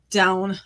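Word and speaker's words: Dôn: Down, I believe, is the pronunciation, but I'm probably continuing my Welsh mispronunciation theme today.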